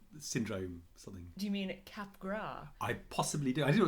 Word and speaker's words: Capgras: have been pronouncing it Capgras syndrome when it turns out is by a French guy so it's definitely cap gras and therefore anyone who